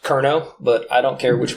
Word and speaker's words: Cerno: So this tool is actually pronounced Cerno, but I don't care which way you pronounce it.